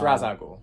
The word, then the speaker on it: Ra's al Ghul: It's Ra's al Ghul. That's the correct pronunciation.